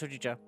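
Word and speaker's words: ほうじ茶: Yeah, you got one ice hojicha. Thank you kindly. Is that my pronouncing that right? Hojicha. There's a green tea, right? Oh, ga. Yeah. Okay, I was right. I was correct.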